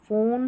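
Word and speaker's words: phone: Number 5 पर है पी एच, इसको फ पढ़ना है। देखिए यहाँ पर पी एच है, पी एच है, पी एच, पी एच, पी एच, और यहाँ पर भी है, तो फ, फोन, फोटो, फोनिक्स, एलिफेंट। तो पी एच जब साथ में आएगा फ पढ़ देना है।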